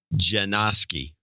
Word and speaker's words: Janoski: Michael Janoski, pronounced Janoski. You're batting 1,000.